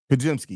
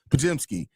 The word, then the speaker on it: Podziemski: DeLon Wright, Brendan Podziemski, yeah. That name I always mispronounce his name. It ruins me every time. Podziemski.